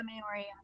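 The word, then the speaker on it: Māori: a uh uh the Maori. Is that how you pronounce that? The uh the tribe Yeah, Maori.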